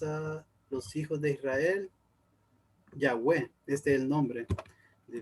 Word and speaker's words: Yahweh: Realmente el tetragramatón son 4 letras y según los estudiosos la forma más ideal de pronunciarlo es Yahvé en español y Yahweh en inglés, si no me recuerdo